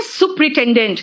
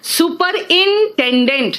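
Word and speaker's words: superintendent: and colonel लिखते हैं बोलते हैं सुपरिटेंडेंट लेकिन लिखते क्या है सुपर इंटेंडेंट देखो सुपर इंटेंडेंट है ना क्या कहा मैंने सुपर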